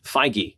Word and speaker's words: Feige: Feige, apparently, is how he pronounces his name.